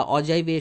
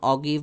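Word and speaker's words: ogive: জন্য কে অগিব বা অজাইভের সাহায্য নিয়েছেন থাস্টোন এটার উচ্চারণ অগিব বা অজাইভ যে যেটাই করুক না কেন আপনাদের কাছে আবার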